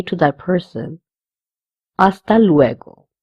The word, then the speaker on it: hasta: say to that person, hasta luego. The H again, it will be silent.